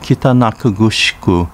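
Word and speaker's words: 北中城: Kitanakugusku, pronounced Kitanakugushiku in Uchinaguchi, and Nakagusuku Village, pronounced Nakagusuku in Uchinaguchi.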